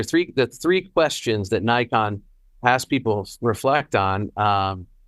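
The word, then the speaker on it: Naikan: of a psychology business psychology world called called Nikon. And in English it's spelled N A I K A N.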